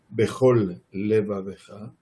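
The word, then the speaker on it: בכל לבבך: con todo tu corazón, tengamos la posibilidad de pronunciar correctamente Behol y después Levavejá, sin dejar de pronunciar ambas Lamed, la primera Lamed que termina la palabra Behol y la última la primera que empieza Levavejá.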